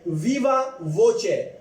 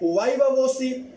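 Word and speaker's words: viva voce: 4 तरीके हैं, वाइवा वोसी, वीवा वोसे, तीसरा जो है वाइवा वोची, और चौथा वीवा वोचे। तो ये इसको आप मुख्तलिफ तरीकों से प्रोनाउंस कर सकते हैं।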